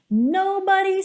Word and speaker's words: nobody: Olha que interessante, aqui nobody, uma pronúncia típica do inglês americano, porque no britânico seria nobody, nobody, ok? Então não tem aquele d, tem o rarara.